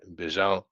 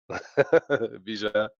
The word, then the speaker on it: Bijan: So say it right, Bijan. You know, Bijan.